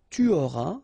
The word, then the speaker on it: auras: J'aurai, tu auras, final S not pronounced, il aura, elle aura,